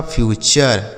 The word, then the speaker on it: future: जैसे FUTURE इसे पढ़ेंगे FU से फ्यू और TURE को चर, यह लिखा आपका फ्यूचर, ठीक है।